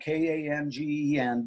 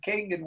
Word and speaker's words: Kangen: a Japanese word that's spelled K-A-N-G-E-N, but it's pronounced K-O-N-G-E-N, Kangen. And it means return to origin. And so I always have to correct people when they're out there saying Kangen water, because it's not Kangen water, it's Kangen water.